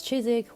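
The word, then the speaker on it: Chiswick: last video i said chizik is pronounced as chizik without the w just like warwick and anik it's this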